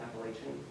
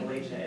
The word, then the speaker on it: Appalachia: Even down to like the word Appalachia, like how people pronounce it, because I've found some people who insist on saying Appalachian, Right. Appalachia, and then when you're like, no, it's Appalachia, they're like, oh, either way.